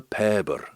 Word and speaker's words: Pabyr: The name of the song is Bear the Paber, so if you put Bear the Paber SoundCloud into the browser, you'll find it.